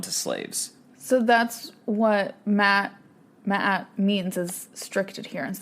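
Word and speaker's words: Ma'at: led to this and it's called um Matt which is like it's spelled m a apostrophe a m a apostrophe a Matt mat yeah Matt at uh-huh and like it's strict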